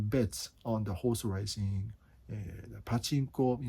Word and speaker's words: pachinko: on the horse racing pachinko pachinko is how to say it's yeah in your future